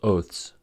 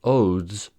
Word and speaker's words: oaths: consonant in the cluster so since oath is pronounced oath Oaths is pronounced Oaths the reason that Oaths can be pronounced Odes relates to the grammar